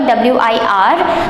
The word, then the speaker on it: wir: Never pronounce the R in that wir, W-I-R. The R is silent, so it is wir kommen.